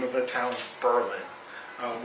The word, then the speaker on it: Berlin: name of the town Berlin um which is different than Berlin which you would think phonetically the way that it's spelled and named after the